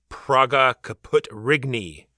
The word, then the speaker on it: Praga Caput Regni: is going to be Praga, Caput, Regni. Pronounced, I'm sure, exactly like that. Actually, you're pretty close.